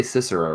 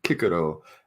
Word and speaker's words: Cicero: weird to me but right well we say Cicero writes you like we're talking earlier we're not sitting here saying kikuro I'm like okay well all right we're not